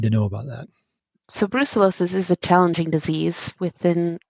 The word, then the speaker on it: brucellosis: because of a fear of, is it called brucellosis? Is that how you pronounce it?